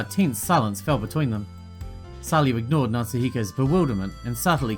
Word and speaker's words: Salyu: Even the nickname Salyu has meaning. I don't think Machido noticed at all, but it's pronounced the same as salute, which means hi in French.